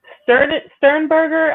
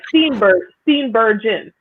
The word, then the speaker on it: Steenburgen: You have Mary Sternberger. I think that's how you say her name. Yeah, that's how you say it. Yeah. I'm sorry. Steenburgen.